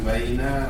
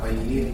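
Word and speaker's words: بَيِّنْ: Bukan baina, bayin. Tiba-tiba bayin. Apa arti bayin? Jelaskan. Bayin. Pakai tasydid ya.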